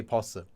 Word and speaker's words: 버스: Notice I just said bus, not bus. In fact, you'll find that many foreign words in Korean are pronounced with a double consonant, although they're not written that way.